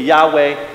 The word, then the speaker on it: Yahweh: Bob hey and and if we were to pronounce it according to Hebrews it would be Yahweh but that was they